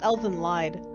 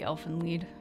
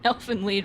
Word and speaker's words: Elfen Lied: I thought it was Elven Lied. I think it might be Elfen Lied.